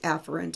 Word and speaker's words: afferent: So afferent in, efferent out. And it's actually pronounced afferent and efferent, but I'm twanging it up so you can hear the difference.